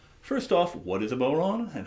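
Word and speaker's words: bodhrán: of it n and the really important thing is when you say it out loud you don't pronounce the d it's not a bad rin or a bod ran um because of the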